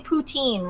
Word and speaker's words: poutine: newfoundland in new brunswick i didn't realize i was pronouncing putin wrong the whole time you were saying poutine right it's putin i don't